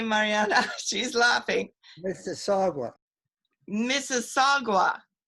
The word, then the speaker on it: Mississauga: director mariana barreto who is in is it misawa outside of toronto probably i said it wrong hi mariana she's laughing mr saga mississauga mississauga mrs saga okay see there we go thank